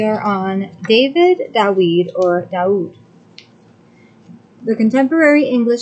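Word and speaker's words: דוד: The Hebrew letters Dalet U Dalet will be transliterated DAUD to suggest the pronunciation DAUD.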